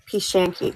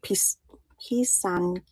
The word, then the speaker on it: Pisanki: If you guys want to see, oh, Pishanki, thank you. Oh wait, Pisanki.